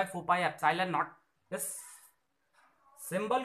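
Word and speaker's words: epsilon: क्या यूज करेंगे, एप्सिलॉन, pronounce करेंगे इसे एप्सिलॉन।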